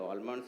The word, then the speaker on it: almond: You can prescribe the peanuts, you can prescribe the almonds, you can prescribe the walnut, you can prescribe the pistachios. So, L is silent. It is called so almond.